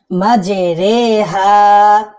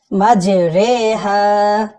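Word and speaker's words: مَجْرٰىهَا: এরপর দর্শক, পুরো কোরআন শরীফের ভিতরে আমরা জানি জেরের উচ্চারণ কিন্তু রসিকারের মতো হয়, কিন্তু এখানে একারের মতো উচ্চারণ হবে, মানে রজের রি না হয়ে রজের রে, মাঝে রে হা, মাঝে রে হা।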